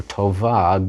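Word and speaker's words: טוֹבָה: In isha, a woman, or tova, good, feminine singular, the hey is just there to tell you to pronounce that ah ending.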